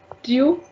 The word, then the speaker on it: tu: you you you also whenever we are having in a word the exact u sound you have to give like here you have to do tu means you you and